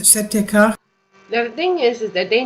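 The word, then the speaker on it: Si-Te-Cah: I'm reading it S-I-T-E-C-A-H. Setekah. Maybe that's the way to pronounce it. Setekah.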